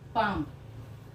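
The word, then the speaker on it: palm: चूंकि यहाँ पर एल जो है वो साइलेंट फॉर्म होगा, पाम, साउंड क्या रही है, आ, पाम, पाम लिखेंगे ना, पाम बोलेंगे हम, तो इसीलिए जो एल है वो साइलेंट फॉर्म में रहेगा।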